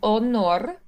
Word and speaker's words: onor: Then we have per honor. Per honor. Yep. And we're going to have nice pure vowels. So on the O, make sure it's nice and rounded.